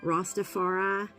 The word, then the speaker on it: Ross Dafareye: Rastafari, and it's spelled, it's ROSS DAFAREYE, and he is amazing.